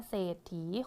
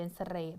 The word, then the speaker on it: เศรษฐี: ออก เสียง มา แล้ว ก็ จะ ออก แค่ เศรษฐี คน นั้น ใจ ดี จะ ไม่ อ่าน เป็น สเลด อย่าง นี้ นะ คะ ต่อ ไป ค่ะ